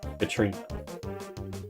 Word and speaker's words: Katrina: But it's spelled, but it's said, it's written in Japanese as Katorina, but it's Katrina.